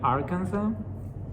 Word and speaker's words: Arkansas: as in spanish and it's just like kansas by just adding art at the beginning so i'm like how does it go from kansas to arkansas i'm like arkansas people are like where i'm like oh i mean arkansas another one that's a